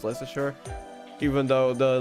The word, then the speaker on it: Leicester: r are just completely silent so it's actually lesture and not not leester or whatever you call it it's not that it's actually pronounced less sure even though the letters are right there and